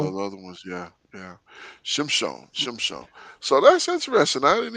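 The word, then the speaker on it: שמשון: Shimshon. So that's how you say it in Hebrew.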